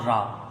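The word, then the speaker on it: ر: तो भले ही इंग्लिश में ये आर बोलने में आता है लेकिन इसका जो साउंड है इसकी जो आवाज है वो रा है। रा।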